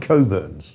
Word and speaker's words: Cockburn: That's Cockburns of Leith and the URL I think we'll put on the video for people to see. Is it not Cockburns?